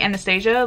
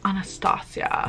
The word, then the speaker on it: Anastasia: I've been saying Anastasia, like the fucking movie, and apparently it's Anastasia.